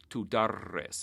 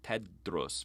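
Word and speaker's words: تُدَرِّس: it i say udaris notice that he used dhamma on the first syllable instead of fatha like we usually do with regular form one verbs tudores it's got one extra syllable not teddros but tudores tu d'arrasin and so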